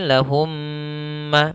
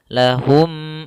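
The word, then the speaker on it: لهم: ada dua mim ya maka di sini lahumma maka masukkan suara mim yang pertama pada mim yang kedua maka kita membacanya lahum sudah masuk kemudian langkah yang kedua yaitu menahan gunahnya tidak langsung lahumaufi tapi masuk dulu seperti tadi kemudian ditahan lahum sepanjang dua harakat Kemudian pada lafal masau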